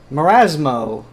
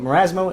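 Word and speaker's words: Marasm0: Marasmo, or Marasm as it's spelled, but Marasmo in the Azubu chat, thank you.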